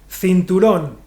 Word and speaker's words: cinturón: Cinturón.